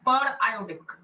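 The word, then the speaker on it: periodic: I know spelling is same but don't call it पीरियोडिक, इट इज पर आयोडिक।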